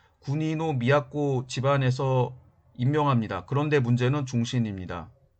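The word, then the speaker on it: 国造: 그 다음에 군지는 지방 호족인 국조, 일본어 발음으로 군이노 미야코 집안에서 임명합니다.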